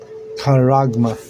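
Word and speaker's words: charagma: Look up that word kuragma in Greek. It's C H A R A G M A. C H. Yeah. Karagma. Sharagma. All right. That's how you you spell it. Like C H A R A G M A. Karama.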